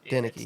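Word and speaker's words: Denicke: Yeah, Denicky. I think it's how you say it. Denicky. It's Denicky, but it's spelled Denick.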